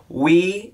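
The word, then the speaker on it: oui: it's going to be We in Europe, which we, O-U-I, yes, in French, kind of a play on word, phonetically.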